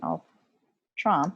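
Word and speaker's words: ultrā: Ultri, ultrum, excuse me, ultram because it's feminine, and then ultra with a long A for the ablative.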